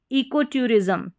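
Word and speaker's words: ecotourism: एस को ज पढ़ा है, एस नहीं, क्योंकि एस जो है अगर एस लेटर से पहले यहाँ पर कोई स्वर रहेगा यानी कि ए ई आई ओ यू, ये वाउल लेटर रहेंगे, इनका उच्चारण रहेगा, तो एस को हम स ना पढ़कर ज पढ़ते हैं अधिकतर स्पेलिंग्स में।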